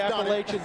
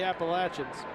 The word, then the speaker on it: Appalachian: One of the most mispronounced schools in the country. If you live in New York, they can be the Appalachian up there. But down here, it's the Appalachins and the Appalachin State Mountaineers.